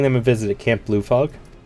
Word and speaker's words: Camp Blue Fog: a visit at Camp Blue Fog for the longest time I kept pronouncing that as Blue Frog and I still do sometimes pleasure to meet you